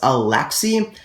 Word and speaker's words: Alexis: common French male name I believe it actually is pronounced alxi I might be wrong there but I am pretty